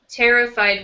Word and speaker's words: terrified: Terrified with the first syllable strong.